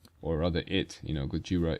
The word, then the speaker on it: Gojira: rather it you know Gojira is after all um the proper pronunciation of Godzilla all right you see